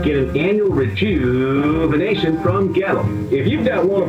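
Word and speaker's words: Goettl: Gettle. It rhymes with kettle, except it starts with a G and it's spelled really weird. Gettle.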